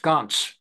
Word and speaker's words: Gantz: There is no ah sound in Hebrew. The patach is an ah. So though it spells out Gantz, it's pronounced Gantz.